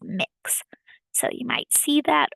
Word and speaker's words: Mx: everyone and they used MX period pronounced mix so you might see